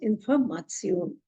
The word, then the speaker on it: Information: And for any kind of information, it is called as Information. Even if the spelling is exactly same as in English, but the pronunciation will be Information.